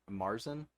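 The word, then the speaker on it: Märzen: of these are obviously marzen is that how you pronounce that I would that's the American way to pronounce it yeah Mars and marzan German style Brews uh Oktoberfest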